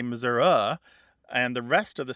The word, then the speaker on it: Missouri: was taking over and the Missouri pronunciation was disappearing except as you say by politicians who think that they're going to Garner some votes by seeming like an authentic Missourian yes well Grant you're an authentic Missourian yeah I say Missouri but you know that's because as I'm younger and pretty much that my father who passed away a few years ago he said Missouri and so that's typically